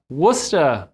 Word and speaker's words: Worcester: i just learned of course uh how to pronounce the name of your city where uh you're located at and uh worcester massachusetts did i get that right that's exactly